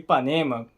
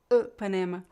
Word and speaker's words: Ipanema: ideia eu acho fascinante a pronúncia do Y é muito diferente do nosso I né um eu não sei falar direito Panema isso Isso é uma PR preciso praticar um pouco é uma pronúncia um pouco diferente é basicamente o seguinte É como se você deixasse os lábios na posição de falar i i Mas aí você tenta falar u então deixa na posição